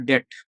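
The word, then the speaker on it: debt: डेट। अच्छा, जिसको डेप्ट नहीं बोलते हैं, here it इज बी is silent.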